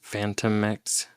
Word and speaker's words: Phantomex: Yeah, it's I would pronounce it Phantom X. Phantomex.